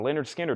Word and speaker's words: Lynyrd Skynyrd: Joe Valentine wants a pronounced Leonard Skinner for this price not